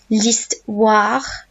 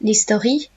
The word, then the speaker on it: l'histoire: L'histoire. Is that wa sound? L'histoire. Not l'historie.